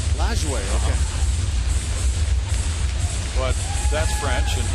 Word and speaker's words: Lajoie: How did he pronounce his name? I think it was Lajoie. Lajoie, okay.